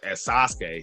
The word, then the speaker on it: Sasuke: So, because I want to say it was cool seeing you and your cousin at Fayetteville as Sasuke.